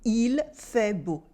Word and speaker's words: il fait beau: But the L does become silent very often. So we mostly say il fait beau. We cut the final L in il.